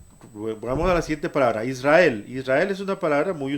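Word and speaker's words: ישראל: Ahora, hay importante, la gente lo pronuncia como Yisrael, lo cual no es correcto. La yod siempre suena como i latina. Entonces, esta suena como i latina y esta suena como i latina. Ambas suenan como una sola i. Entonces se pronuncia como se lee en español, Israel.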